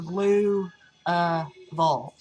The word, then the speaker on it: Louisville: you're underwater and so it's not like that it's a blue uh evolved so anyway we went